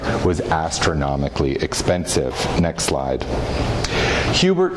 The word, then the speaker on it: Hubert: named Philip Hubert and he preferred the the Ang angelized pronunciation uh uh Hubert um Hubert had grown